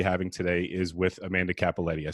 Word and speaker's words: Cappelletti: going to be having today is with amanda capaletti i said that correct right you sure did all right very good spell it though uh see it's there's two p's